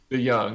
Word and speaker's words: DeJong: I'm not sure how they pronounce it. I think DeJong. Yeah, you had it right. DeJong.